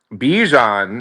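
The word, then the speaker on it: Bijan: Bjan, as he pronounces it.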